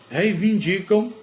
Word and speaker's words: reivindica: vários direitos os professores reivindicam vários direitos então reinin esse reinin não existe esse in não existe é reivindica essa é a forma correta outra dúvida outra palavra